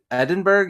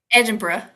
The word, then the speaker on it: Edinburgh: Is it just Edinburg? Edenberg. How do you say it? Edinburgh. Edinburgh. See, I always say it wrong.